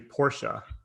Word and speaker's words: Porsche: did find out that porsche is actually porsha oh really yeah because they actually have a thing on their website that tells you how to pronounce it or someplace but i